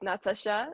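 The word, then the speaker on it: Nataša: sorry no my dad my dad is Serbian so you pronounce it Natasha so you you still pronounce it as if the H was included in the name um I know it throws people off it's just the Serbian spelling of my name so on my um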